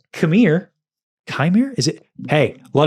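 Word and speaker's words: Qimir: His name is it's Chimere. It's K-M-I-R-E. Oh, I thought that he was yelling at us like No. it's pronounced Chimere.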